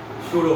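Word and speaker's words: pseudo: आप बोलेंगे कि सर आप तो शूडो फोर्स बोल रहे हैं, आपने तो पी से स्टार्ट किया है, तो पशूडो फोर्स नहीं है, इट इज अ P silent, P silent है, इट इज शूडो फोर्स। तो पी साइलेंट लिखना पी है, लेकिन बोलना में पी नहीं है। पशूडो ने मत बोलना, don't say पशूडो, इट्स शूडो force.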